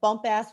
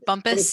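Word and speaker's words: Bumpass: Before I ask my question, there is a bump ass Virginia also, which is near the North and a nuclear information center. It's pronounced bumpus, there is.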